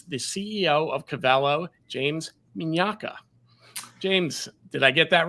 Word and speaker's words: Mignacca: want to introduce the CEO of cavello James minaka James did I get that right you you nailed it it's the Italian pronunciation was right on thank you you know